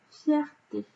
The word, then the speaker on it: fierté: Vous pouvez essayer quand vous connaissez le nom qui va avec, essayez d'entendre le nombre de syllabes. Fierté. Vous ne dites pas fierté. D'accord? Donc, si c'est fierté, je ne rajoute pas de E. Par contre, pureté.